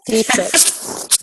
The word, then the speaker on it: Dietrich: I always say your last name wrong. Dietrich. Dietrich. Oh, that's actually, I say that's right. That's how I say it in my head.